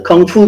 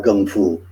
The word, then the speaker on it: kung fu: here because let's see the kung fu tv series with the k more people are familiar with that spelling that pronunciation than they are with gum food it's really pretty much us in the g condo world who um use the cantonese pronunciation with the g because of our connection to bruce lee everybody else uses the k and um essentially the